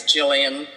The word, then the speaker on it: Gillian: uh-huh fantastic pronunciation liz i know that gillian mcknight is jillian but i've called her gill for almost 10 years now so gil is who she is okay please go ahead